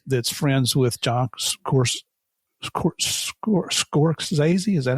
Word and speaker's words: Scorsese: a friend that's that's friends with John Coror Scorsese. Is that how you say it?" The the producer out there in California and he said, "I need to do Martin Scorsese.